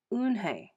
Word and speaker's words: Unhei: turning around it was joey your name is unhi he said with his eyes open wide luan hay looked quickly at mr kim then turned to joey she nodded slowly yes it's pronounced unhei and it means grace mr kim added joey